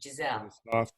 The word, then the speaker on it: Gisele: what's your name again gisele gazelle with a g gisele with the soft g gizelle g gizelle i like